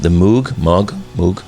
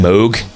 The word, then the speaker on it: Moog: And by with the addition of the Moog, I think is how you pronounce it. Yeah. Moog. I always thought it was Moog.